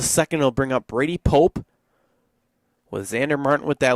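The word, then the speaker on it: Popp: Again, it's spelled P-O-P-P for the Appleton Double Days player, but pronounced Pope.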